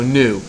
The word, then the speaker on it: gnu: animal called a new it looks like gnu but it's a silent G so new uh it shows up